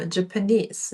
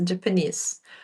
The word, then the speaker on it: Japanese: Так ось, будь ласка, робіть наголос правильно. Japanese. Japanese.